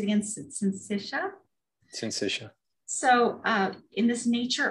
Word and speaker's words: syncytia: How do you say that word? Syncytia. I think it's pronounced syncytia. Syncytia.